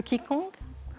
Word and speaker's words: Qigong: Le Qigong. Alors, on dit Qigong, mais je vous donne bien sûr les Qigong. points. Mais ça s'écrit Qigong. QI et plus loin G-O-N-G, et Qigong, Anne-Marie est déjà à 7 points.